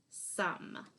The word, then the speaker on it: some: And the last word for this week is the word some. Some is spelled S-O-M-E. It rhymes with the word come, and it's spelled the same way except that first sound.